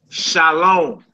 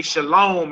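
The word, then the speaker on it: שלום: Well, that's because they say shalom is because when it comes to the wave in shalom, they put a dot over the wave and so you get a o sound. Shalom. So again, some brothers and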